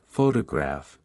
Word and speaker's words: photograph: For example, in the word photograph, the stress is on the first syllable, while in photographic, the stress shifts to the third syllable.